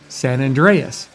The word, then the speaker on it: San Andreas: It is pronounced San Andreas.